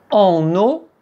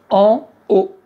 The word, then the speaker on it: haut: En haut. “En_eau”, c'est autre chose ! En haut.